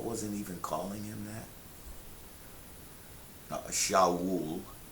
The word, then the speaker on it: Shaul: Shaul, as his name is pronounced in Hebrew, and even that is